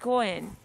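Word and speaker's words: 五円: C'est bien d'utiliser une pièce de cinq yens parce qu'elle se prononce go-en en japonais qui est la même prononciation pour la chance, la bonne fortune.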